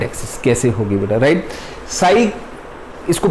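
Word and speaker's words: psi: साई इसको प्रोनाउंस करते हैं, साई सिंबल ये है, साई हमको क्या बताता है, एम्पलीट्यूड ऑफ द वेव।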